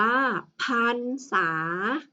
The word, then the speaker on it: พรรษา: คะ เด็ก ๆ คะ ถ้า รอ หาง อยู่ ข้าง หลัง พยัญชนะ และ ไม่ มี ตัว สะกด เรา จะ อ่าน ออก เสียง ว่า อัน อย่า ลืม นะ คะ